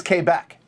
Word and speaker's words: Quebec: all that when you get to q it's k back you would think that would confuse people for